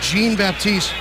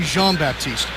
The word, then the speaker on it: Jean-Baptiste: Stanley Jean-Baptiste on defense there, Joel. JD asked him earlier this week, so how do you pronounce your name? He said it's Stanley Jean-Baptiste, but I know it should be Jean-Baptiste.